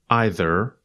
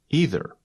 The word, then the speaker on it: either: You may have just noticed, we pronounce that connector in two ways, and both ways have the same meaning. We can pronounce it either or either. You say either, and I say either.